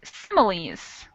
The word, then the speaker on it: similes: What about the word similes? Similes. E it sounds like a long E.